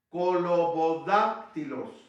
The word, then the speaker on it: colobodáctilos: Colo con K, bodá con B grande, bodá, acabándola con una K, bodac, Y luego tilos, con Y. Colobodáctilos, el del dedo cortado.